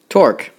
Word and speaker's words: torque: torque as the book will say rhymes with fork or cork but it's a twisting